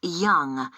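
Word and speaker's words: Yonge: Yes, it's Young. Young. That's... That's spelled Y-O-N-G-E. That's Young.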